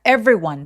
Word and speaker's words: everyone: 자, 자, everyone 발음할 때 everyone 안 하고 every 하면서 중간에 e가 없어진 것처럼 발음하셔도 좋아요.